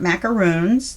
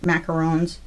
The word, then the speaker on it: macaron: cookies As a treat they're not macaroons those are the ones with the coconut macarons macarons or something different there's only one o in there and I always say